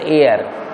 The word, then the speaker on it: heir: HEIR, it will be pronounced as एयर. इसको हम एयर पढ़ेंगे, एच साइलेंट है, HEIR.